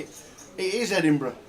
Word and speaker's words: Edinburgh: How would you pronounce Edinburgh as a foreigner? That's how Edinburgh sounds when you say it. It is Edinburgh. It's not Edinburgh. It's definitely not Edinburgh. It's Edinburgh.